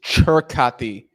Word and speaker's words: Circati: Apparently, it's Churkati. I was hearing some Italians pronounce it.